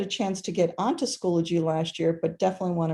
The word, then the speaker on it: Schoology: So it is Schoology. So it's not Schoology, where I've heard it said that way. It's Schoology, like biology, Schoology.